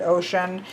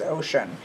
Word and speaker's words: Oshun: berry did pronounce it ocean this one does say how to pronounce it and does depict it as being pronounced as ocean so that is too